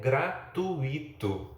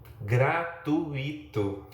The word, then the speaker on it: gratuito: Você aí de casa, você aí no estúdio, certamente já ouviu algo do tipo: o evento é gratuito. Gratuito.